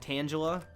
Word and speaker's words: Tangela: third pull on shiny tangler but at least it'll be reclaimed in this game I'm cool with that totally cool with that isn't it pronounced like Angela no sweetheart no you sound like one